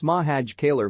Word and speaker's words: Makhachkala: on good authority that it's mahaj kaler by the way back in